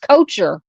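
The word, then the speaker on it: Koecher: It's pronounced coacher.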